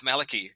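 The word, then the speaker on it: Malachy: because I just text I was saying Malachi or Malaki or whatever I can't remember I was mis pronouncing it left right and Center um and and you're like no man it's Malaki and I said fine I've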